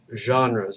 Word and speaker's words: genres: and literature are called genres it's a French word so it's a J at the beginning instead of of a a hard G sound for this assignment write